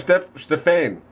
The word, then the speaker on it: Stephane: His name's Stephane. Oh my god. It looks like Stephanie.